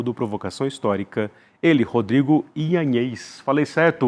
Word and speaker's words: Ianez: Como é que é a outra pronúncia? Ianez.